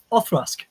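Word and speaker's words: Auchroisk: How do you pronounce this next whiskey? It's a fun one. Othrusk.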